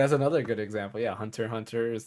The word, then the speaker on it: Hunter x Hunter: Hunter yeah exactly that's another good example yeah Hunter Hunter is not Hunter x Hunter or Hunter cross Hunter yeah um I I I think the Pokemon's